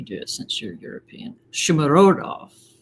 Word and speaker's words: Shomurodov: Shumarodov. Right? Shomurodov, yeah.